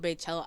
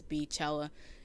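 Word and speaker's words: Beychella: I call it Baychella. I hate pronouncing it as Beachella. It just sounds wrong to me.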